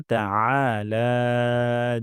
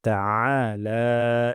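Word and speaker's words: تعالى: তারপর ওয়া তাআলা জাদ্দুকা, এখানে আইন গলার মাঝখান থেকে উচ্চারণ হবে। উচ্চারণ করব না, হামজা উচ্চারণ করব না। তাহলে এখানে হামজা হয়ে যায়। ওয়া তাআলা এবং লাতে এক আলিফ টান।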